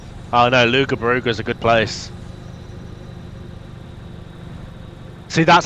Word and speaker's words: Loughborough: We do like Luga Baruga. Oh no, Lugabaruga's a good place. See, that's how the rest of the country pronounces Loughborough.